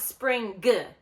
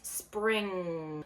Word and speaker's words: spring: of my students, g, doing like the G as in girl because you see it, but we don't pronounce that hard G. So it's not spring g, it's spring.